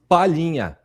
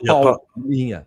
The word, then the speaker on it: Palhinha: By the way, it's Palhinha, not Paulinha.